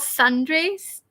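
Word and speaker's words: tsundere: It's called sundrays. Like the T is silent.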